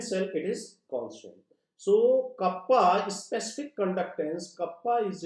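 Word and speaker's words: κ: conducting is written by k small k and pronounced as kappa kappa this is equal to 1 by rho and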